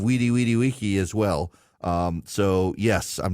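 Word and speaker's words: veni vidi vici: to change it and pronounce it the proper Latin way. I say vini vidi vici instead of weedy weedy wiki as well.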